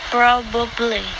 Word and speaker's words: probably: 12th example is probably this has three syllables even though a lot of people drop the middle one don't do it say probably probably yo this is